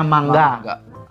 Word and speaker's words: manga: n di tengah-tengah kata misalnya manga tulisannya manga tapi dibacanya mangga seperti kita ngomong buah mangga nah yang ketiga juga